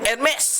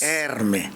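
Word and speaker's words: Hermès: Er Hermes Erme. Ayan ayan pagkaerme na yung mo na nak eh. Wala ng s eh. Eh hindi ano erme lang e. Hindi. Yun ang pronounce kasi dahil yun ay French.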